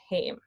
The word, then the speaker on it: heim: The Norwegian or the German thing would be to say heim, but heim is how you do it in Icelandic.